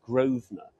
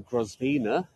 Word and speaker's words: Grosvenor: Grove Terminus so g-r-o-s-b-e-n-o-r Grosvenor this is the way we pronounce things in the UK rather than Grosvenor but there was a